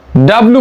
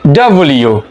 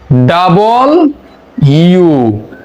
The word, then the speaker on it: W: এই বর্ণটির উচ্চারণ আমরা ডাব্লু বলে থাকি, ডাব্লু, কিন্তু এর প্রকৃত উচ্চারণ হবে ডাব্লিউ। ডাব্লিউ। আমরা একটু স্লো বলবো, ডাবল ইউ। যদি দ্রুত বলি তাহলে কি উচ্চারণ হয়? ডাব্লিউ।